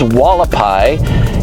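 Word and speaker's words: Hualapai: This is Walapai. It is pronounced like that is an Indian name. It starts with an H even though it's called Walapai.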